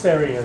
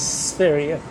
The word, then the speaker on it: Sverige: I do know it's pronounced Sverige, though. Swedish for Sweden is Sverige.